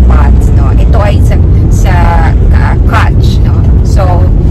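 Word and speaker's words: Qach: Ito ay sa Kutch. No? So, it's spelled as Q-A-C-H.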